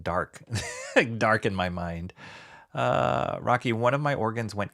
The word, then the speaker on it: Roque: They're always like, Mr. Rocky. I get it all. I've gotten it all my entire life. I'm like, it's Rocky. It's just Rocky.